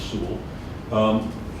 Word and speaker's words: Soule: George Soule, a big, or Sewell, I'm corrected many times, the correct pronunciation is Sewell.